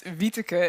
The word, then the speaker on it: Wieteke: It's Wieteke, and it's a really Dutch name, so no one outside the Netherlands can pronounce it.